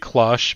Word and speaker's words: cloche: The way I said cloche makes your blood boil, that's how it's pronounced. It's pronounced cloche.